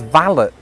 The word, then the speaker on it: valet: That word is valet parking. And that way of saying it does exist in Britain, but there is another pronunciation, which is valet.